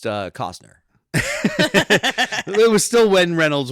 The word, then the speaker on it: Costner: He's like, hey, It's pronounced Cosner.